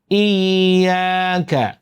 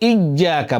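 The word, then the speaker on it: إياك: অনেকে ইয়াকে শক্ত করে, বলে ইজ্জাকা, বলে ইজ্জাকা, ইজ্জানা।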